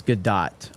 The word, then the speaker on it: Gadot: So yeah, you have Gal Gadot playing the it's Gadot. I call it Gadot. I respect her enough to say her name properly.